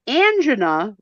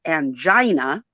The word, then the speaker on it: angina: So now, angina, which some people mispronounce as angina, is not to be confused with agita.